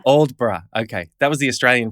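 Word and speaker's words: Aldeburgh: you go that's seaside town you mentioned is alderberg is that how it's pronounced uldbra old bra okay that was the australian pronunciation aldeburg yeah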